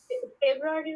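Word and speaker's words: Februar: April, ফেব্রুয়ারি উচ্চারণটা ফেব্রুয়ার, ফেব্রুয়ার, ফেব্রুয়ারি কি হবে? ফেব্রুয়ার, ফেব্রুয়ার, ফেব্রুয়ার। ওই দেখেন শেষে কিন্তু আরই টাইপের কোনো ব্যাপার নাই, ওয়াইটাই কিছুই নেই, এই জন্য এটা হচ্ছে ফেব্রুয়ারি।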